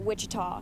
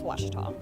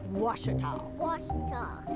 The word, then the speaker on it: Ouachita: say oh a cheetah back in texas everybody pronounces it wichita but really it's washita washita how would you pronounce it it's washita baptist